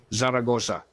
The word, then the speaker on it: Zaragoza: going to make us Saragosa you know that's where it starts you know that they say it is the only word that is accented in all its syllables Zaragoza and then Zaragoza in